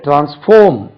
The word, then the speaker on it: transform: இந்த இடத்துல டிரான்ஸ்ஃபார்ம் பாருங்க, TRANSFORM, foam, டிரான்ஸ்ஃபார்ம். Second syllable தான் ஸ்ட்ரெஸ்.